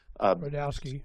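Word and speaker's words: Rudkowski: his view was Luke I always get his name wrongowski. How do you say his last name? Redowski. Redowski.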